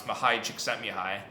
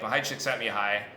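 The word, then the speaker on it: Mihaly Csikszentmihalyi: It's basically the way the psychologist, his name is impossible to pronounce, Mahai Csikszentmihalyi. When he came to our lab, we just call him Mike. But Mahai Csikszentmihalyi, the coiner of the word, the phenomenon flow,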